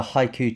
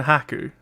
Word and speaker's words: Haku: And the haiku to Shuggie's Chihiro. Hey, I think I'd go with the pronunciation Haku. Haku, okay.